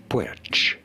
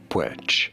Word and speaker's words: Puig: How do you say it? Puig, Puig.